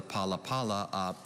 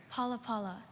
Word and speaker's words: palapala: of ideas words or symbols as in the palapala at pu load displays over 23 000 petroglyphs on a hardened lava bed palapala can you please repeat the language of origin hawaiian paula paula p a l a p a l a